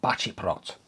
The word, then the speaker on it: Baceprot: message basically saying that he believes the c is pronounced with a c h so yeah i believe it's voice of batty plot so because i'm pretty